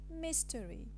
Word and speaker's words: mystery: word is mystery mystery and the casual transcription is mystery so you notice that we have omitted the schwa and this process is called a vowel elision the explanation is the a lesion of the schwa in the medial post tonic syllable thank you